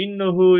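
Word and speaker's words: إنّ: Yani cevap cümlesinin başında yer aldığı sürece inne okunur, enne okunmaz.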